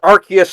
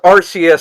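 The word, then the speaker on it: Arceus: Even though you don't call Toge Togepi Togepi and you don't call Togekiss Togeekus and they pronounce Ar and they pronounce Archus as Arus.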